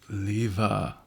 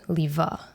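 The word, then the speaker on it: Lieve: say it Leva Leva so there's a reason why it's pronounced Leva okay tell tell me the history of this so my name is Dutch cuz I'm half Belgian and in Dutch the E is pronounced as an A so even though my name is spell l i e v e mhm it's pronounced Lea Lea yeah um and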